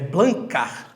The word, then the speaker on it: Blancard: conta desse meu nome mas é isso mesmo é blancar blancar aí então já já